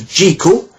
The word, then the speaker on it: Jekyll: Louis Stevenson had that wrote the original Dr Jekyll as in treacle it was Mansfield who liked the idea of Jekyll being pronounced Jekyll because it sounded more sinister uh that he they